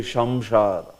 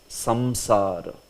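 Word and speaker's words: samsara: her and also uh Bangla pronunciation may be Shamar you know right they say Shamar so it is not right it is samsar Sam yeah Samar it is D it is Dental s you know like that so usually if you want to learn pronunciation also just see that you know somebody may have his own peculiar pronunciation based on the region uh so it's not Shamar it's quite prominent like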